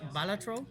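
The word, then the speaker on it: Balatro: Bolatro. Batro. I just remember that little interview dressed up as the jester. Yeah, that was like I was informed it's actually pronounced Batro.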